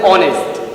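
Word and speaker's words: honest: দেখো একটা ভাওয়েল আছে ও, এই ও থেকে উচ্চারণ আমার শুরু হচ্ছে আওয়ার, তাহলে এন আওয়ার বলবো। তারপর দেখো অনেস্ট, এন অনেস্ট।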